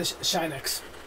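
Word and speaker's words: Shinx: I want the Shinex.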